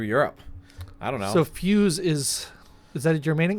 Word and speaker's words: Feuz: So Feuz is the French pronunciation, I've been told.